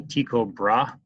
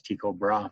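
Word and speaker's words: Tycho Brahe: but I need a tico bra or bra Hey depends on how you want to pronounce that I've always been told it was Chico bra but the video I'm linking to says otherwise he disagree with Copernicus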